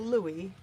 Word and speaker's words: Louis: same as your dog it's spelled um spelled Louis but it's pronounced like the French King Louie so yeah I have